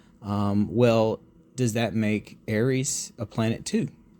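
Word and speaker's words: Eris: And Aries, uh a lot of people or Aerys, depending on how you pronounce it, um a lot of people think is actually larger than Pluto.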